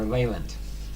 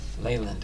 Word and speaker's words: Leyland: do Leland tomorrow or leand leand I think is how you say it is it Len l